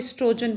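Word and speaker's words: oestrogen: ओ silent है यहाँ पे, इसको स्ट्रोजन पढ़ते हैं।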